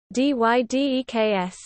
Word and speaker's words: dy/dx: The expression dy/dx display style tfrac dy/dx, on the other hand, is commonly vocalized like dy/deks, with complete omission of the fraction bar, in other contexts often pronounced over.